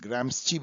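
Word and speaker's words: Gramsci: यदि आपने ग्राम्स्की को पढ़ा है, इनको प्रोनाउंस ग्राम्स्ची भी किया जाता है, ग्राम्स्ची को पढ़ा है,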